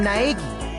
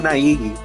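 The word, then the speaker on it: Naegi: My name's Naagi. Naigi. Naigi. Remember the pronunciation cuz I I'm going to it up.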